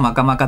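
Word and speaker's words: 摩訶摩訶: 読み方はマカマカだけど漢字だけ書いてありますね。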